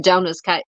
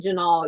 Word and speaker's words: Jonah: Okay, Jonah's I've said it wrong. I had it. See, I told you I said Janal. Yeah, Jonah.